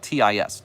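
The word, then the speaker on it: τις: Well, this Greek word is tis. If you're going to transliterate it, it's spelled T-I-S, tis.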